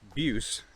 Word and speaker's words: Buice: into a word but google says that it's abuse so the pronunciation of it is abuse i'm walking off the